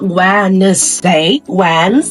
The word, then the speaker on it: Wednesday: aqui a gente tem uma silent letter porque o D, ele é basicamente mudo, né, a gente fala Wednesday, então, o D aqui nesse caso, esse D não é Wednesday, é o Wednesday, né?